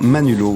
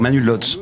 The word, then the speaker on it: Manu Lods: Bonjour Manulo, oui, comme disent souvent les protestants, mais sinon on peut dire Manulots aussi. Mais je sais que dans les fiefs protestants, on va prononcer ça Lo.